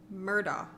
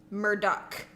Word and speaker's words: Murdaugh: true crime thing, because a lot of people want to say it like it's spelled, which would be Alex Murdaugh. Right. But apparently in South Carolina... that is not how you say it, and people are very passionate about it. So it is Alec Murdoch.